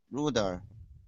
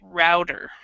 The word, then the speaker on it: router: Okay, so this word has two pronunciations. You just said the British way, which is great. In the American pronunciation, we pronounce it router. So it's a router or router.